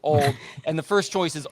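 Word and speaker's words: Auld: the song it's it's the first word is a-u-l-d which is hilarious because that's also american ultimate disc league but it's pronounced old and the first choice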